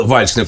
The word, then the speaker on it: вальшнеп: вальшнеп нехай буде вальшнеп А чому вальшнеп перше от я завжди так вимовляв тому що мене батько так навчив саме от як Мисливець а друге це архаїчна форма як потім дізнався от саме наголосу на першому А і це приблизно та